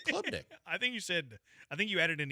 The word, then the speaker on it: Klubnik: Klubnik? I don't think there's an ER at the end. I said Klubnik.